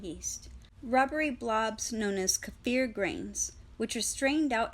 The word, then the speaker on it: kefir: Kefir. I've been pronouncing this word kefir, and now I know it's kefir.